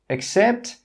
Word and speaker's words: accept: 'Accept' 'Accept' with an A is pronounced as 'accept'. Accept. In my accent, the first sound is that schwa sound.